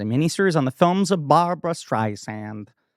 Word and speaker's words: Barbra: Baby, this is a miniseries on the films of Barbra Streisand. I always say it like that for some reason because I'm trying to make sure I don't say Barbara.